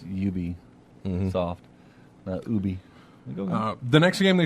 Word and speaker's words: Ubisoft: is it Ubisoft and they said originally it was called ubiquitous software mm-hmm and that's how we got Ubisoft yes so you just take your BIC witness and then you beat there you go exactly like you pronounced you be soft yeah oh yeah I